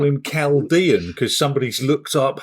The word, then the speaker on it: Chaldean: now, because we used to call this horse Chaldine for about a year. Well, I thought it was Chaldine, yeah. And now apparently we have to call him Chaldean because somebody's looked up how he's supposed to be pronounced.